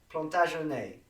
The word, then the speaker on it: Plantagenet: So we had Henri d'Anjou, and he became king, and this is the family Plantagenet. Correct my pronunciation, please.